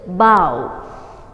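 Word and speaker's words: bough: the form first one b o u g h bow how do we pronounce it bow a big branch of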